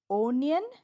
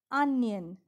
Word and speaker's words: onion: Not onion, but onion.